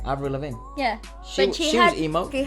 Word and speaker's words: Avril Lavigne: Avril Lavigne.